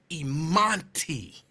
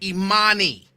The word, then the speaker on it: Imani: Like, and I'll be like, that is not how you pronounce her name. And then he would slow it down. Imanti. And I'll be like, no, Daddy. It's Imani. No T.